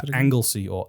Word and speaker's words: Anglesey: map of wales this is big island it's pronounced anglesey and that was the sacred home of